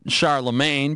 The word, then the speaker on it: Charlemagne: or Scar the brain Scar the brain or Charlemagne became emperor of the Holy Roman Empire around the year 800.